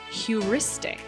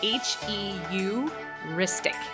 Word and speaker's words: heuristic: day today it is heuristic and it's spelled kind of weird so obviously include it in the show notes but it's h-e-u-ristic heuristic it means any approach